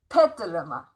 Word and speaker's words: Petaluma: from I hope I'm not messing up the pronunciation again. Petaluma is that correct? That's correct. Okay. Petaluma.